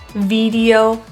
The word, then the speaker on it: video: So if the middle of your tongue is very high to the palate, that will sound like an E. We're going to flatten it and pull it down a little bit. E, eh, E, eh. It is a very small difference.